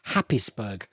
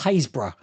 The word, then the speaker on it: Happisburgh: Anyone who lives in Norfolk, they've got a place there called Happisburgh. Happisburgh, but it's pronounced Haysborough.